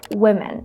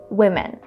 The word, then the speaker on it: women: Here we have to say women, just like in the word sit. Women.